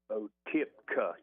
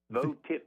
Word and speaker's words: Votipka: And her name is Sparrow spell it for me again, Mike. B-O-T-I-P-K. Botipka, K-A. I had to get there with you for a minute. Botipka. V-O. V. Oh, V. V as... V. Votipka.